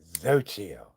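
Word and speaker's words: Xochitl: Your name's Exochilt. It's pronounced Zoio.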